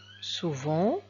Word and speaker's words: souvent: va voir le mot souvent ici pourquoi on dit souvent et on prononce le NT c'est parce que souvent c'est un adverbe et on a vu